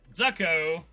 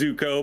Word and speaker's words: Zucko: I have been informed I've been saying his name wrong the whole time. I will correct myself. Zucko has picked the ADV is first for Dark Knights. I totally trolled you. It is Zuko, but that's okay.